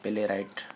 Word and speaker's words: playwright: सो प्ले राइट मतलब drama निगार, ठीक है, प्ले राइट। W यहाँ पर खामोश है, साइलेंट है, प्ले राइट, W खामोश है, ठीक है।